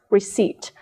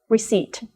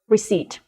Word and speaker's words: receipt: might pronounce it as receipt but one letter in this word is assignment letter and that is the letter P which is not pronounced receipt receipt just look at the